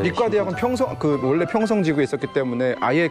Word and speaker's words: 리과대학: 한국 발음으로 하면 이과대학인데 북한 발음으로 하면 리과대학이라고. 리과대학.